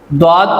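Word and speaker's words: ض: दौद को जब हम अदा करते हैं तो हमारी ज़ुबान की करवट यानी साइड ऊपर के दाढ़ों की बाएं या दाएं जानब लगनी चाहिए, इससे अदा होता है।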